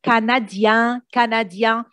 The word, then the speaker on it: canadien: If I want to say je suis canadien, that means finish with I-E-N, I don't pronounce the N. Je suis canadien, but if I'm talking